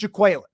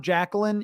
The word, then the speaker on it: Jaquelin: It is Jaquelin. Yeah. This has been established. I checked this, double check this, triple check this. That is how it's not Jacqueline, even though it's spelled similarly.